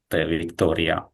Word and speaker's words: Victoria: T is pronounced very soft. T Victoria like that.